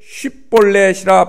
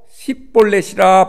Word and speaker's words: 쉽볼렛: 그에게 이르기를 쉽볼렛이라 발음하라. 이렇게 하여 에브라임 사람이 그렇게 바로 말하지 못하고 십볼렛이라 발음하면 길르앗 사람이 곧 그를 잡아서 요단강 나루턱에서 죽였더라.